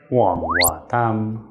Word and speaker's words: Hoàng: Hoàng Hoa Tam.